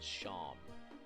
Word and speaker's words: Seam: The name is Seam, but pronounced Sham.